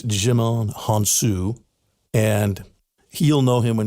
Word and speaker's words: Djimon Hounsou: I want to pronounce his name right. It's Djimon Hounsou.